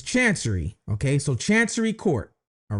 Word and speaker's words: Chancery: So, I did look up on how to pronounce this. It's Chancery, okay?